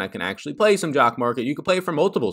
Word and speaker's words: Jock MKT: get into all that jock market is the sponsor of this friday show as they happen every single friday this year and jock market as it rhymes with stock market is exactly that is